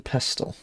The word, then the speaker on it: pestle: You don't pronounce the 2 in pestle. The T.